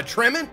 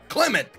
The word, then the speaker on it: Clement: nice he sounds like jermaine jermaine uh trement or however you say his name from uh um uh fly the concords clement clement there you go look i'm about to